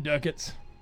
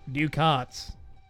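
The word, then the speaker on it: Ducats: go for more mm Duckett's I'm sorry do cots that is the official pronunciation according to de it's a pity they're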